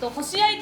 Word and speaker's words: 星合: 星合と書いてあります。